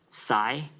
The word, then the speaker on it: psi: i i will use this thing which is pronounced as psi psi of s and the expansion of a